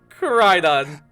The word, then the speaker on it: Koraidon: Koraidon.